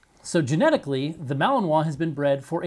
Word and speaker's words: Malinois: Okay, first off, it's Malinois, not Malinois. Please make sure you say it right.